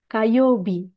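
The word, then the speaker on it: 火曜日: Selasa, Kayobi.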